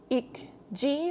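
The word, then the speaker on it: 읽지: So this part here is, it depends what comes after it. So in this case, it's followed by this G. So it's actually pronounced like this. Ik G, like this, ik G.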